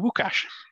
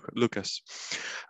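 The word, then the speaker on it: Łukasz: you, and it's really nice to hear my name pronounced like a Polish native speaker. But of course, for those of you who do not have as strong connection to Poland as Matt, it's simply Lucas.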